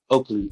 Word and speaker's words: Oakley: no, like Spike Lee. Okay. Oakley, yeah.